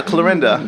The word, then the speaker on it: Clorinda: Clarissa and Belinda together.